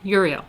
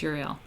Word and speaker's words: Uriel: So there's like Michael, Gabriel, Raphael, and I never know how to say his name either. Uriel? It's like Uriel? Uriel. I think it's Uriel.